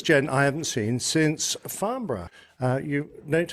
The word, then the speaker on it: Farnborough: Now, this gent I haven't seen since Farnborough. You note how to pronounce that, please, Jeff?